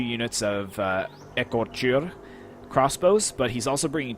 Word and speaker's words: Écorcheurs: these Écorcheurs crossbowmen, and I have been pronouncing them as Écorché because I figured that the EUR would be an A sound, but I actually found a correct pronunciation, and it's Écor, so pretty self-explanatory, Écor, and then Chur, so Écorcheurs crossbowmen. So until somebody corrects me